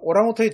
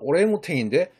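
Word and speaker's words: orangutan: 오랑우탕이 정확한 발음은 오랭우탱인데 이 말은 놀랍게도 우리말 아랑이 들었어요.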